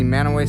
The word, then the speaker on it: Mantua: i know it's pronounced m-a-n-t-u-a i think it's like mantua or something like that but locally they say it man away so we're gonna explore